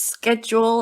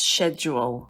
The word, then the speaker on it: schedule: According to them, they said that schedule with a K is the USA.